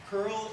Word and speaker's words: curl: tet has a layer on top of it curl is really useful oh it's actually pronounced C URL but it it's a really